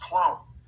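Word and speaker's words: klon: The Greeks used it and uh it's was spelled K L O N but it was pronounced clone uh basically for grafting plants to create new species.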